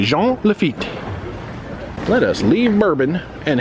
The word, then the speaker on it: Jean Lafitte: lafitte's blacksmith bar so I usually go with the French pronunciation I'm often told that